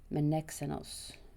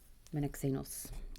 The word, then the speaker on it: Menexenus: And I'm not sure I'm pronouncing it correctly, but the Greek seemed to be Menexenus. It's definitely X.